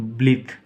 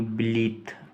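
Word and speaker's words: blithe: ब्लिथ इसको बोलेंगे ब्लिथ, ई का उच्चारण नहीं होगा, सिर्फ ब्लिथ।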